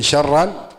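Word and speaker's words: شرا: Faman ya'mal mithqala dzarratin khairan yarah wa man ya'mal mithqala dzarratin syarran yarah. Pakai shin ya, jangan salah bacanya. Syarran, syar.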